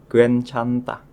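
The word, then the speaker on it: 괜찮다: Contoh berikutnya ada kosakata yang mempunyai arti tidak masalah dan kosokata itu dibacanya gencanta.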